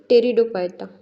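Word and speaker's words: Pteridophyta: थॅलोफायटा ब्रायोफायटा ब्रायो आणि टेरिडोफायटा टेरिडोफाय फायटाची spelling P पासन start होते टेरिडो फायटा ठीक क्रिप्टोगचे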